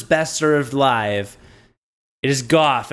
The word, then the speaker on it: Gough: It is goth. It rhymes with cough.